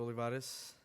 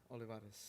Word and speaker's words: Olivares: I am Olivares. Olivares? Olivares. Did I say that right? Yes. How do you spell that? Olivares. So the R sounds like a D, kind of.